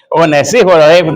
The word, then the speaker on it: Onesíforo: Uníforo. Tiene el acento en laíforo.